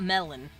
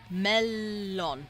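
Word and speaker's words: mellon: melon T it's funny it's not melon it's melon you pronounce that l a little bit longer because there's two of them you silly dork you pronounce them both melon so that's what we're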